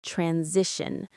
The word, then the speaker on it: transition: Accelerate the transition. Stress on the second syllable of accelerate and the second of transition.